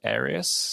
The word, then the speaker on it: Arius: something i find interesting about this is a arius i think am i pronouncing that right aries aries yes aries yes he ended up being